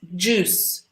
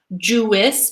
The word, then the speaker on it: juice: So this word is juice with us, juice. We should also be careful with this pronunciation, not Jewess, but juice. So this I is mute, is silent.